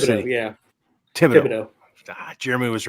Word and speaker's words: Thibodaux: How do you pronounce it? Yeah, Thibodaux.